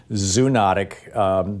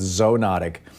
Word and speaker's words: zoonotic: Yale called yesterday and said it's zone otic so anyhow tell me about this these these diseases certainly Tom and I'm not sure if I can help the pronunciation debate I think it might be tomato tomahto but I can tell you a little bit about zoonotic diseases that's how I pronounce it I think the most